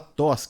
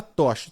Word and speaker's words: Toschi: É doutora, _, Ana Clara, se escreve Toshi, né? Mas se fala Toschi. Isso, Então é Toschi, doutora Ana isso. Clara Toshi.